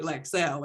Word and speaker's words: Lexel: one time and said how do you pronounce the name of your product and she she told me lexel and every time she every time she she was telling me she she said yes lex hell blah blah